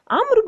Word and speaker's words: عمرو: الآن الواو الموجودة في كلمة عمرو، وجدت هذه الواو للتمييز ما بين كلمة عمر وما بين عمرو. عمرو بوجود الواو، لكن لا نقول عمرو، وإنما نقول عمرو. عندما نقول عمرو هذه قراءة خاطئة.